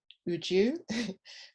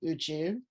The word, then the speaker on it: Uju: I go by the name Uju, a popular shortening of. UJU, 3 letters, 2 syllables. Yet somehow, for the average Westerner, it's a mouthful. UG? UG? UJ?